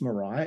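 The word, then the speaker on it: Mirai: Sarai and Mariah I'm sorry I think it's Mariah m-r-m-i-r-a-i all right Amy Soraya Mariah okay we'll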